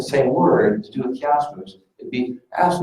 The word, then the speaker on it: chiasmus: And he's doing what we call in Greek, chiasmus. Dr. Andres, how do you pronounce chiasmus correctly in Greece? Chiasmus. Chiasmus. It's like an H rather than a CH.